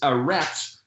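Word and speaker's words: ארץ: So you could say Resh Zadi is pronounced rats, so the word earth is aretz, and then the TZ sound became the TH.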